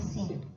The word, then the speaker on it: sync: Kalau instruktur strong nation ya S Y N C dibacanya sing dari kata syronize.